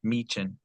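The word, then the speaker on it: Michin: It was the Alexa Alexa Bliss, Chelsea Green, and Mitchen. Is that how you say her name? Mean. Mean. Yeah, that first I is basically like two E's.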